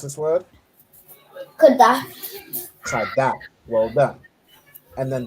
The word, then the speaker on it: Qadash: How do you pronounce this word? Qadash.